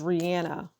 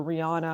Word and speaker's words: Rihanna: the Exotic Rihanna Rihanna her pronunciation is Rihanna but people call her Rihanna I don't think she